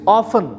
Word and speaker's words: often: Fourth is ऑफन, टी is silent.